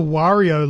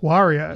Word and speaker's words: Wario: I always thought it was Wario, not Wario. Oh, well, I say it like Mario. Wario. Yeah. Because it's just the M turned upside down.